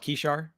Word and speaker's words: Kishar: And do I have the pronunciation there rightly of Kishar? We call it Kishar, but Kishar. There we go. Kishar.